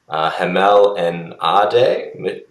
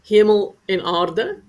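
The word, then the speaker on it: Hemel-en-Aarde: So let's head to, I apologize in advance, Hamel and Ade. Fiona, how do I pronounce that? Hemel en aarde.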